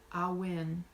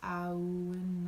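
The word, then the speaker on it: Awen: keep repeating the word, I'll win, in my head. That's a Welsh word that means divine inspiration. It's not said in 2 syllables, it's said in 3.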